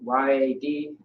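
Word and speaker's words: יד: So Y-A-D. Yeah. Yad or yad is how you pronounce it, which means hand.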